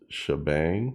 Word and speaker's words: Sha#Bang: name for it is shabang I think that's how you pronounce it because you got a hashtag there in the midddle S sh hashtag b